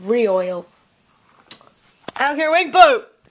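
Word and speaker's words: Rioyal: Like royal wedding, but with re-oil.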